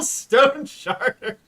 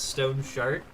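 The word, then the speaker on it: Stoneshard: Your special little stone sharder. Sorry, that's extra funny because earlier Rosso Rio was talking about Stone Shard being mispronounced as Stone Shart.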